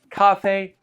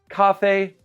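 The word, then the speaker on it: 咖啡: So, we just need to know "How do you say coffee in Chinese?" It's very simple. Kā fēi. Coffee. Kā fēi.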